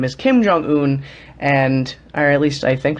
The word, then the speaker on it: Kim Jong-un: His name is Kim Jong-un, or at least I think that's how you pronounce his name.